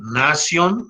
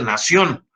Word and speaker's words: nasion: le puse 10, el nación, no se dice nación, porque no tiene acento en la O, porque estos son palabras latinas, la glabela, el bregma,